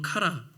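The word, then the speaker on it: χαρά: 자, 기쁨이라는 말이 언어로 카라 이런 뜻인 이제 이렇게 발음하는데 이게 이제 기쁨, 잔치, 축제 이런 의미가 있어요.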